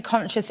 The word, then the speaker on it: conscious: Repara que esse S ele muda para um som de X, não por causa do C.